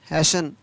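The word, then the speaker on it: hasten: SASTN हैशन, CHRISTMAS Christmas, SOFTN सोफन, MORTGAG mortgage.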